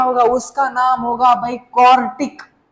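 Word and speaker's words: quartic: उसका नाम होगा भाई कॉर्टिक। आई एम not saying क्वाड्रेटिक, आई am just saying कॉर्टिक।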